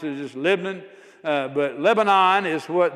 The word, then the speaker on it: Lebanon: You got to you got to take all the vowels out and just say the LBN. Uh that's how we tend to pronounce it. Just Lebanon.